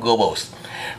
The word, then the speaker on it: Goebbels: âm của người Pháp, nhưng mà cái chữ đó đọc theo tiếng Đức hay là tiếng Mỹ là đọc là ông tổng trưởng Goebbels.